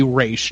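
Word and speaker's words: Ra's al Ghul: Ghul kind of yes I say race not roz because that's how you say it I I think it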